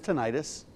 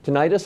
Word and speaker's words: tinnitus: older now what is tinnitus so tinnitus also called tinnitus both pronunciations are okay is a ringing in